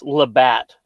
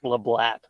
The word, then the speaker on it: Labatt: How it's pronounced? It's Labatt, not Lablat.